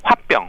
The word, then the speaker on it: 화병: 바로 이제 1994년도에 이제 미국 정신 의학에서도 화병 한국 발음 그대로 화병 이제 영어로 써서 hwa